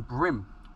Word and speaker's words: bream: And see if we can help pick up some brim, or bream as it's spelt, but black bream is how it's pronounced here. Very similar to a sea bream that you would get in England.